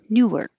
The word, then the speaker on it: Newark: If it's number 12, the stress is on Newark, Newark.